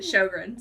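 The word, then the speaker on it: Sjögren's: That's how you say it, Sjogren's.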